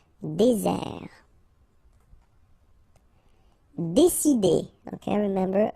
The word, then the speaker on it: désert: Okay, remember, final T not pronounced. Désert. And really this Z sound just because you get one S between the two vowels. Okay, Z. Désert.